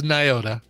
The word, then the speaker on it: Nyota: There's like some N's and a Y in there, and I don't It's Nyota.